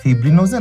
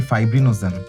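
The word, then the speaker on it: fibrinogen: ফিব্রিন নাকি ফাইব্রিন এটা কি ফিব্রিনোজেন নাকি ফাইব্রিনোজেন এই উচ্চারণগুলো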